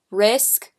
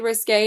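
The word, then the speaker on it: Risqué: in the shade risque every time I pronounced this in my best of beauty I always said risk which is obviously wrong but it's the shade risque and it's a gorgeous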